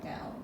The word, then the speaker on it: 道: Okay, Dao. Okay. So Dao is proper pronunciation for the Chinese people.